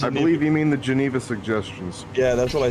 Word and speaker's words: Geneva: it's pronounced ah oh geneva like the geneva accord okay okay so your